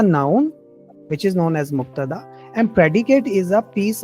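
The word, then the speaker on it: مبتدأ: Let's pronounce the Arabic terms. Mubtada or khabar. So al-kitab is. So Say it. Mubtada.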